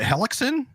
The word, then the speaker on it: Hellekson: tonight we are talking with Lauren is it helixon oh my gosh you got it okay good